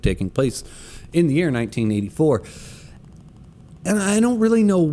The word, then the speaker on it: 1Q84: with it being 1q84 which is actually in japan as a play on words would which that would actually be pronounced in japan as 1984 and they make some